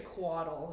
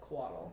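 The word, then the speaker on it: couatl: the the giant thing the the it's actually quaddle is what it's called yes um never heard of that yeah do you want to see where that was how do you pronounce it caudal collateral quaddle it's spelled bizarrely it's felt weird c-o-u-a-t-l yeah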